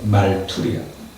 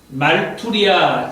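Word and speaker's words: μαρτυρία: 증인이라고 하는 말을 헬라어로 말투리아라고 하고 있어요. 제가 발음이 제대로 전달이 되는지는 모르지만 부족하지만은 그렇게 읽을 수 있어요. 말투리아.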